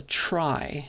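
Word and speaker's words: trie: an example of a data structure called a try as well because along the edges of the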